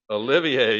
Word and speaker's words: Olivier: Olivier.